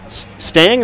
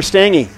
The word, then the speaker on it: Stang: How are you pronouncing that name? GEP? Stang or Stangy? Stang. Okay. Stang.